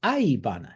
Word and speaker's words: aibana: This is aobana, blue flower. Excuse me, that's spelled Aobana, as opposed to indigo, which is aibana.